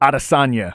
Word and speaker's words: Adesanya: How do you pronounce it? Adesanya.